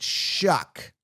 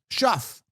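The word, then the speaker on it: Tyler Shough: Now, apparently they pronounce it Shuck, but if I was to pron if I Shuck is sh H U C K, I would think.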